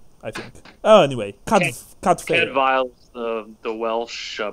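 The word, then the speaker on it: Cadfael: Cadfail is the Welsh pronunciation. Okay, Cadfail, Cadfail, okay, yeah. With the V sound.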